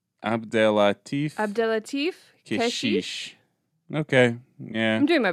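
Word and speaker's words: Abdellatif Kechiche: Abdelatif Keshish.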